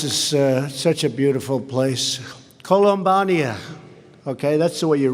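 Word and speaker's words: Columbiana: I especially want to thank, this is such a beautiful place, Columbania. Okay, that's the way you really pronounce it.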